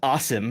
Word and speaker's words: Asim: So it's Arabic. It's awesome is the way it's pronounced.